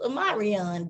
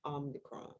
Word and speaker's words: Omicron: but now I'm worried because they may cancel it because of Omarion dancing in the streets.